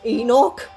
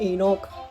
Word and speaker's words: Enoch: or the according to the cuttle corner it's pronounced Enoch so yeah I did say I knocked before but yeah I'm going forward saying Enoch so yeah anyway the perhaps the sign oh